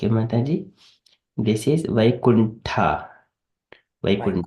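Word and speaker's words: Vaikuṇṭha: So Vaikuntha, so this is pronounced tha. So generally it is a THA called so tha, but there is a dot under T. It is a T is stressed a bit stronger. Vaikuntha.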